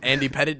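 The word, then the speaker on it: Pettitte: It's spelled petite, but it's Pettit. Oh okay. no, I'm not gonna lie. I wanted you to spell it. No. Spelling bee. It's spelled a little different from petite, So but I just want to think ahead.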